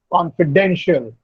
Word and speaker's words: confidential: Or confidential, the stress is on den.